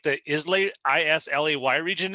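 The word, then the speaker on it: Islay: ever just uh instead of like the isla i-s-l-a-y region it's called isla the island isla the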